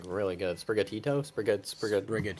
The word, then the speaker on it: Sprigatito: but as we know the leaf it on sprigato is like really good sprigatito sprig pronouncing Adam ninja you know they're playing they're